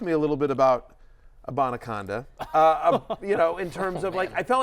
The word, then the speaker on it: Abanikanda: He got the touchdown, but also how about Izzy Abanikanda?